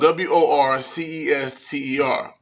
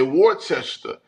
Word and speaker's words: Worcester: N city is spelled W O R C E S T E R. So you would probably say Wartchester, but it's Worcester.